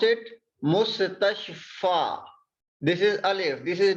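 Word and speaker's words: مستشفى: We pronounce it alif if it has no dots.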